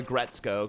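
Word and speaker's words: Aggretsuko: She also really liked Agretsuko, or Agretzko, because the U is silent.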